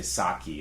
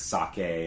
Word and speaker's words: sake: right way cuz you you don't say saki a lot of Americans say like Saki and karaoke right it's sake and K very good oh